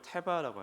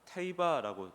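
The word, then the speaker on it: תֵּבָה: 어쨌든이 갈대 상자는 또 히브리어로 테바라고 합니다. 뭐 테이바라고 발음하기도 하고 노아가 홍수로부터 생명을 보존하기 위해 만든 방주가 태바거든요.이 갈대 상자도 테바입니다.이 테바는 특징이 방향키가 없어요.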